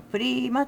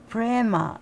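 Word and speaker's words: प्रेम: んですけど、私今までサンスクリットのあの正式なね発音プリマって言うんですけどそれで言ったんですけど今回もね風さんアメリカンな発音でね、プレマとね、言ってた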